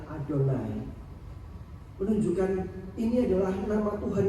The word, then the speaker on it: Adonai: Ketika dikatakan YHWH, orang Israel bahkan tidak berani menyebutnya membacanya sebagai Yahweh. Tulisannya YHWH, bacanya adalah Adonai.